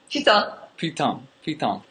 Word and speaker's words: putain: Putain.